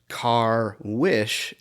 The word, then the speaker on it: Carwish: So I've been on the podcast referring to Jim Carswitch, and Jim Carswitch does not exist. Jim Carwish is how you pronounce his name properly.